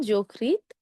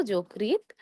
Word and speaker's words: যকৃৎ: আবার দেখুন যকৃৎ, মসৃণ, এই দুটো শব্দে সেইম আমরা কিন্তু ওকারের মতো উচ্চারণ করছি। কেন উচ্চারণ করছি? শুরুতে রয়েছে জ, জ হলো অধ্বনি। অধ্বনি এর পরে রিকার থাকার কারণে আমাদের অধ্বনি এর সংহৃত উচ্চারণ হবে। আমরা ওকার দিয়ে উচ্চারণ করব যকৃৎ, মসৃণ।